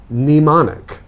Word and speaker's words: mnemonic: spelling word I think it's the only word in English that I can think of with a silent M I'm trying to think